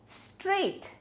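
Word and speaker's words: straight: So walk में एल is silent. Next is स्ट्रेट।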